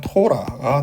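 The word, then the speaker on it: תורה: 1번 타브니까 티것이죠. 그 다음에 홀렘바브니까 오니까 토죠. 그 다음에 2번 레시의 카메츠의 묵음이죠. 그래서 라 해서 다 합치면 토라가 되는 겁니다.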